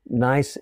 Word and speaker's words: gneiss: granite gneiss granite gneiss i think nice is spelled G and E is s it's a weird word as a german word but that metamorphic process